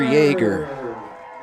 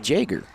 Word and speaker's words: Jaeger: a senior number 77 Parker Yeager I'm sorry that's pronounced Jager in the backfield number 34 a sophomore Carter Jaeger number 34.